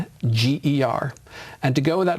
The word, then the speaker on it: Nordlinger: I think there's only basically one way to spell it, but I do spell it for people. It's Nordlinger.